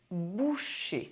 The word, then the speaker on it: boucher: refer to occupations: Le boulanger The baker Le boucher The butcher Le poissonnier The fish merchant Finally,